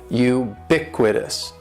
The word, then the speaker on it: ubiquitous: is ubiquitous and ubiquitous has four syllables that first syllable is is just like you're saying the letter U u BIC with this and the stress is going to be on that second syllable ubiquitous ubiquitous ubiquitous ubiquitous means